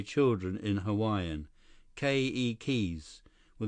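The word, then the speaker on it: keiki: say children in Hawaiian ke keys were the accent on the first syllable okay Li ke ke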